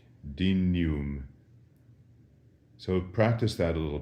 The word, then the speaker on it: dignum: a little bit, and we say it in the way that we would say in English, canyon, dignum.